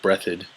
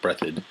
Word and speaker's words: Breathed: top comic is Burt Breathitt Andy yeah it's spelled breathed but it's pronounced Breathitt bloom County so if